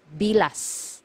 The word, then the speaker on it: bilas: careful with this one you have to pronounce the letter S at the end because if you mispronounce it nearer to letter T it is actually it actually means the private part of a woman okay so make sure you pronounce the letter s it should be bilas okay next one illegitimate